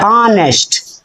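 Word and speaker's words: honest: तो यहां पर यच का उच्चारण क्या हो रहा है? आ। इसको क्या पढ़ा जाता है? ऑनेस्ट। क्या पढ़ा जाता है? ऑनेस्ट। और आ क्या है? वोवेल है।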